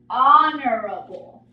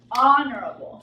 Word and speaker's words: honorable: no right it is honorable honorable so we are not pronouncing the H and honorable is when